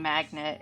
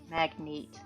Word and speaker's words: magnate: Um, but he was basically a an airplane magnet who um, magnate. I should pronounce that correctly, otherwise it sounds like magnet.